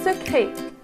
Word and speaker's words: secret: Un secret. Donc, la lettre qui ne se prononce pas, c'est le T.